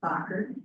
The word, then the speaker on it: Bacher: My name is Stacy Bacher, spelled like Baker, it's my married name.